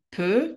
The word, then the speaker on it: peux: je peux, tu peux. לא מבטאים את ה-X.